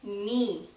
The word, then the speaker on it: knee: Now this word, knee. Again, K, the letter K is silent here.